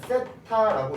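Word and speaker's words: θ: 번데기 모양을 써주시고 요만큼의 이름을 우리가 뭐라 하면 세타라고 읽어요.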